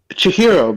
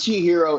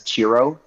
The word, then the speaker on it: Chihiro: I think Chihiro is really good. Although every time I see that title, I keep mispronouncing it as Chiro and all I do is think about that.